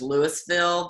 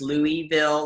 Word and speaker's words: Louisville: it in different ways there's Louisville there's Louisville a lot of people know that you're not supposed to pronounce that Louisville like you do st. Louis which doesn't make a